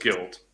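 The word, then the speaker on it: GYLT: guilt so to know that is written gyl t it just pronounced guilt okay it's a Madrid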